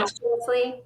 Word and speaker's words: posthumously: Posthumously, Yeah.